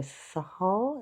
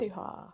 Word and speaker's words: Suhal: Today we're joined by Saha. Is that Suhar?